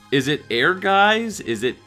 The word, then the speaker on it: Ehrgeiz: make it out but it sounds similar to how it is phonetically spelled in Japanese a guy su but in understanding that